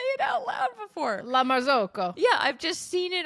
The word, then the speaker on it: La Marzocco: La Marzocco.